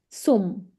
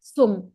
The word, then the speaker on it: zum: Vedika, Z in German has to be pronounced like sir. So it's not zum, it's sum. Zum.